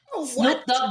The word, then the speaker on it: Snoop Dogg: Snoop Dogg, that's how you pronounce it, right? Yeah. And in Brazil, guess how they pronounce it? Snoop Dodge.